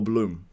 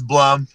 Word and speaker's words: Blum: Is it Blum or Bloom? It's Blum. Thank you for asking. Blum. Okay. Because I always say, I always say it wrong. What do you mean? Like a plum, but a Blum.